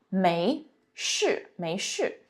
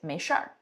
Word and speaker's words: 没事儿: 没事 So you heard me read it both ways. 没事 also very often people would say 没事儿 Again, a matter of accent.